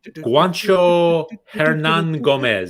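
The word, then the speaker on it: Juancho Hernangómez: Juancho Hernan Gomez.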